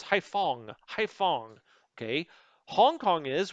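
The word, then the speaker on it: Haiphong: saigon is um this one is i don't pronounce this well so i don't say it all oh it's haifang haifang okay hong kong is we can start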